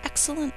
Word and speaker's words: excellent: excellence three syllables her excellent work is superior to mine think to spell e e um we only say one of those L's in speech but we're going to